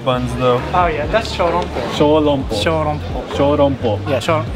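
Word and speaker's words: ショーロンポー: Oh yeah, that's shorompo. Shorompo. Shorompo. Shorompo. Yeah, shorompo. In Japanese pronunciation, shorompo.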